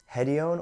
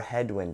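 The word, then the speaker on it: Hedione: scented synthetic fixatives include hedion or hedwin depending on your pronunciation callone 1951 ambroxide and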